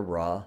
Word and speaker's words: Ra: symbolize the sort of rays of the Sun God ray or Raw however you want to pronounce it both are acceptable this limestone would have